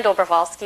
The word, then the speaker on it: Dobrovolsky: Dobrovolsky is a long last name, and so the first part of it is Dobro, which is very simple. The middle is W-O-L. You pronounce the W like a V, which is Vol. The last part is Ski, which is self-explanatory, so it's Dobrovolsky.